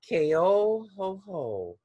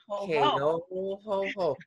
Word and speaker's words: Keohohou: Keohohou. Keohohou. There's only two ho-hos, only at Christmas time. You can add a third, but right now it's just Keohohou. Thank you so much, Dawn.